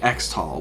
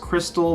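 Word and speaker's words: Xtal: the beginning starting with exall which is apparently supposed to be pronounced Crystal but come on it's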